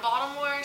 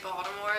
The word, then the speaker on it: Baltimore: say, and so that people from Baltimore say Baltimore like it's spelled with a D, but everyone else that's not from the area says Baltimore, and I don't think I've ever said Baltimore.